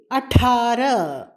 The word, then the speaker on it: अठारह: 18 18, अठारह अठारह. அடா மகாப்ரான் டா. ஹாவை அடக்கி உச்சரிக்க வேண்டும், எழுத வேண்டும் கட்டாயமாக.